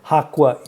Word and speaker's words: Jaqua: Well, I do say Jaqua in South America. I do it phonetically, but here in the U.S., I say.